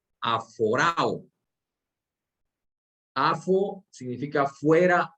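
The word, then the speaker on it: ἀφοράω: Ahora, esa palabra puestos los ojos, si nos vamos al original griego, es un vocablo que se pronuncia aforao.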